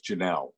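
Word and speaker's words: Jaynelle: Well, her name is Janelle. Janelle, okay. Yeah. Okay. People get it confused because it's spelled with J-A-Y. Right, so right. Janelle. Okay. So Y is silent.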